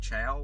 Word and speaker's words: Chao: I'm just reading that now and then hearing him say the word chow, which I guess with it not having the S on the end, I guess that's how you pronounce it. C-H-A-O.